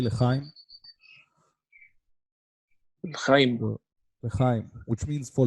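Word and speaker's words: L'chaim: So we say lechaim.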